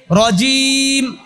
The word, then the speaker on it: রজিম: মিনাশ শাইত শাইতানির রজিম রজিম জিম কি জিম তো আর জালের মতো না জিমটা চাপ দিয়ে উচ্চারণ করতে হয় রজিম তারপরে বিসমিল্লাহির বিসমিল্লাহির মা